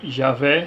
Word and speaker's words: Javé: senhor em letras maiúsculas e pronunciada em português além de Yahoo é como também Javé o e Jeová e esse nome aparece